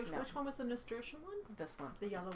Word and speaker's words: Nasturtium: It's how do you pronounce that? Nasturtium? Nasturtium, yeah.